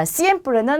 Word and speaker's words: siempre: 자, siempre는 항상이란 뜻입니다. 그래서 전부 다 쌍시옷으로 발음이 되고요. 쓰로 발음되기도 하죠. 그래서 여러분들은 편한 발음으로 그대로 해주시면 돼요.